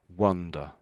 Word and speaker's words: wonder: I think of it as wonder. I was be I was beginning to wonder if I would ever meet anyone. And if it was an a, then it's wonder. Oh. Oh. Then it sounds like an o really, I suppose. Really. So when it's an A there, that's when you're walking around lost maybe. So that's wander. Wonder.